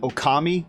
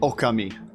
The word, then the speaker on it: Okami: time I called it Okami but to go with the Japanese pronunciation it would be oka me but why do I